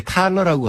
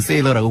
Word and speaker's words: Thaler: 먼저 THALER인데 우리나라에서 이렇게 번역이 나올 때 탈러라고 한 데도 있고 세일러라고 이렇게 발음한 것도 있는데 이분이 독일 출신이에요. 그러니까 아마 집안에서는 탈러라고 부를 것 같아요. 탈러. 예. 그래서 이제 미국에 사니까 미국에서 커서 살아니까 이제 사람들이 전부 세일러라고 부르니까 그냥 세일러라고 부르는 게 이제 맞을 것 같고요.